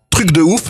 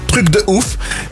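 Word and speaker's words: Truck de ouf: C'est une sorte de petit camion qui s'appelle Truc de ouf, mais qui s'écrit truc comme le camion en anglais, donc truck. Oui. Truc de ouf.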